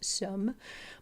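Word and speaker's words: Somme: S O MM E. I think I'm pronouncing that French-wise. Sum. By the end of the first day, get this.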